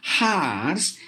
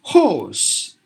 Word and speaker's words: horse: cause or poor horse it's not harsh it's horse because you but it is